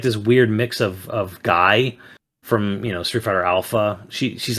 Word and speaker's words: Guy: So I wish they pronounced it the French way, Guy.